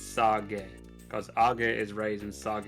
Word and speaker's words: sage: to sage something to lower it it's not saging something it's sarge because agai is raising sage is lower so